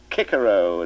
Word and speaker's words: Cicero: A lot of nonsense, in my opinion, making boys say Kikero at school when for the rest of their lives they'll say Cicero, if they ever say it at all.